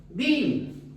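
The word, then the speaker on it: בין: discernir espiritualmente dice que en el hebreo discernimiento se pronuncia vin en el Antiguo Testamento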